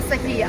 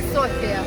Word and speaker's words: София: Кстати, болгары говорят София правильно произносить. Это мы говорим София, а они София.